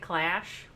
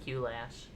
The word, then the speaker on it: Q-Lash: Is it Q-Lash, or do they say it as Clash but just spell it with a Q? You know? They say it Clash. I always call it Q-Lash.